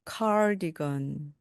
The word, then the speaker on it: cardigan: cardigan, cardigan이 영어입니다.